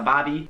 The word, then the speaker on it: barbie: This one should probably have been higher up on the list, but that is a bobby, spelled like Barbie, but Yeah. not that Barbie.